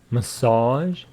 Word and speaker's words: massage: So, once again, the pronunciation, massage, message. Stress on the second syllable, massage. Here, first syllable, message.